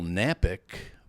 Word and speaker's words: Knapik: my name is nappick but you're gonna say oh man I don't know how to spell that well you know here's the key Kevin the K is silent so just go to